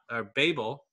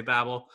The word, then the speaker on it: Babel: I learned in researching this that it's more correctly pronounced Babel, but I usually say Babel.